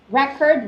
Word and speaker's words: record: record record right so the stressing of the pronunciation differs when usually when you say record um if the stressing is in the first syllable um uh record the stressing in the second syllable is usually the verb but if it's in